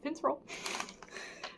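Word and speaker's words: Finntroll: Do you say it like Fintroll? Yeah, Fintroll.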